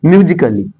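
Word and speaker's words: musically: ना जैसे यहां देखिए ए के बाद अगर डबल एल आए तब वहां ए साइलेंट होता है जैसे यहां एम यू एस आई सी A double L वाई म्यूजिकली इसे बोलेंगे म्यूजिकली का मतलब होता है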